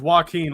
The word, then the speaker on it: Joaquin: and so and so it's Joaquin like Joaquin Phoenix okay now I got